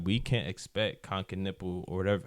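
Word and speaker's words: Knueppel: But I'm saying like we can't expect Ken nipple or whatever. How do you say his name? It's Keniple.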